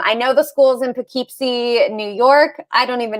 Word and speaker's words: Poughkeepsie: for a long time um but it's it's pronounced poughkeepsie poughkeepsie and it's the uh it's a great rural